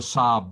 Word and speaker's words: Saab: done all right and you've heard of a sab before you pronounced it correctly you heard of a sar